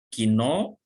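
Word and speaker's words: 昨日: Di watashi wa subjeknya, kino kemarin, ini dibacanya kino ya, yang menunjukkan kemarin ya.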